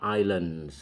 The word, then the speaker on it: islands: Tulisannya island, tapi S di situ nggak dibaca. Islands. Pulaunya lebih dari satu, maka islands ada tambahan S di belakangnya, ya. Tambahan S itu menunjukkan jamak, lebih dari satu. Ingat, itu pengucapannya islands, bukan island, ya.